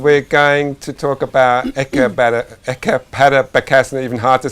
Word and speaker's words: Eka Pada Bakasana: Ekapada Bakasana.